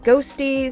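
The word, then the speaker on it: Qhosty: It's spelled Q-Hosty, but apparently it's pronounced Ghosty, so that's what I'll continue to refer to them as.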